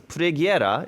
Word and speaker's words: Preghiera: Now, as you just saw, I am not Italian, so I had to kind of look up how to pronounce this. As Preghiera is how you pronounce the album name.